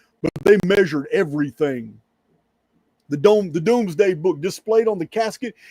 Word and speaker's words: Domesday: It's spelled Domesday, Domes, Domesday. I think it's pronounced Doomsday book.